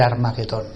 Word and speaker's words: Armagedón: cenarios que es El armagedón eh la pronunciación correcta es esta Armagedón lo digo porque a veces en inglés cambian eh algunos lo pronuncian de otras maneras pero en hebreo es así la batalla del Armagedón